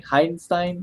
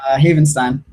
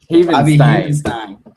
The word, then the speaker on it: Havenstein: They draft how do you pronounce his name? Heidenstein? What's his name? Havenstein. Havenstein.